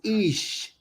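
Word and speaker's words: Ix: And the spiritual name for the wizard is Ish, I-X, but it's spelled Ish like E-E-S-H, Ish, but it's spelled I-X, all right?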